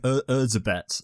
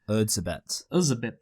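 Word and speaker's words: Erzsébet: It's like Erzabet. It's something weird, isn't it? Wait, what is it? It's literally like, so it's spelled like Erzabet.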